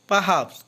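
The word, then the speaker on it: perhaps: পারহ্যাপস অর্থ সম্ভবত, এখানে আরের উচ্চারণ হবে না।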